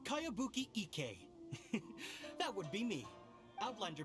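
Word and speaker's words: Kayabuki Ikka: new one i've never heard of it by cowabunga icky your mia this is a really strange name who's this cowabunga it's pronounced kayabuki ek that would be me outlander brigade is a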